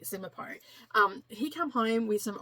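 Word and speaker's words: Simonopio: Simipo is how you say his name. It's a tricky name, but anyway, I think that is exactly how you say it, Simipo.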